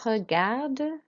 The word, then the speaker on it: regarde: Okay, so regarde, roll your R. Because there's an E on the end, we do pronounce the D.